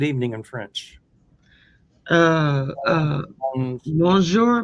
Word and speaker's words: bonsoir: Uh uh bonsoir bonsoir.